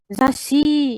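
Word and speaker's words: ざっし: Sudah Zashi ya kan? Zashi. Jadi su kecilnya ini enggak dibaca, tapi gunanya untuk ngedouble huruf di belakangnya atau penggandaan.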